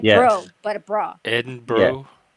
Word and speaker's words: Edinburgh: Edinburgh. Brah. Yeah. Edinburgh. Like bra. Yeah. Like for you to understand like bra like girls bra kind of status is easier for you. Eden like it means like it's spelled berg. No, it's bra.